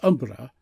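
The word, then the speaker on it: hombre: They seldom address each other by name, but style each other ombre, pronounce almost umbra, with a frightful quiver on the R, which is equivalent to fellow.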